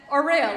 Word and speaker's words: Aurea: And she said, Aurea, like Aurea of sunshine.